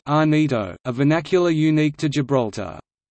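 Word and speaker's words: Llanito: Gibraltarians often converse in clan ito pronounced Anita a vernacular unique to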